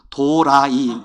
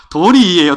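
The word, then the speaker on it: 鳥居: 예 이거 잘 아시죠 이런 것들을 발음 잘해야 돼요 도라이 도리이 잘 아니에요 도리인데 내도 도리이에요 도리도도 어응 근데 이게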